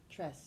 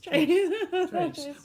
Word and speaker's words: Trace: Tress, you told me I say it wrong. Trace. Trace. Well, I'm from Kansas. It's Trace.